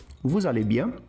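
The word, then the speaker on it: vous allez: Percebe que o vu com al eu não pronuncio o s de vu, mas se eu junto os dois, né, pelo fato do termo al começar com vogal, o som do s ele vai vi. Então valeian.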